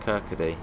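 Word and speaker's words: Kirkcaldy: out of edinburgh again kurt cowdy is pronounced kirkady okay yeah i've been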